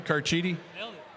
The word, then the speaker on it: Carchidi: Am I pronouncing that even close to correctly, Carchidi? Okay. Hang on a second. Got to pat myself on the back when I get one right.